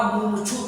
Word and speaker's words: मुमुक्षु: मुमुक्षु शुद्ध उच्चारण करें, मुमुक्षु।